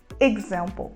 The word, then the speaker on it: example: Nossa aeronave se move a próxima palavra entra no mesmo caso da palavra exactly a gente vai usar um som mais próximo de fechado seguido pelo som da letra g e a palavra example example nós vamos falar example e o uso da